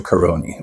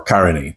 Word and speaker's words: Caroni: had to go to karon or Karan it just depends on the accent you use in how to pronounce the word the trin's called it